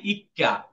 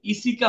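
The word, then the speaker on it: 一課: দায়ী করতেছেন পরেরটা দায় ইক্কা যদিও এখানে এইটা এই ইসিকা হবে না এই উচ্চারণটা হবে ইক্কা এই ইক্কা মানে ছোট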